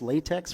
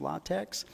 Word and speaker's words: LaTeX: formatting uh latex I know I call this latex for a long time but I guess the proper pronunciation is latex latex is a great um Document Preparation system